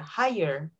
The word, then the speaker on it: higher: and this one don't read the g hi her they're higher as easy as that higher okay there you go